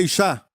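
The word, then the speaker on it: אישה: Mulher em hebraico é Ishá, porquanto do homem foi tomada.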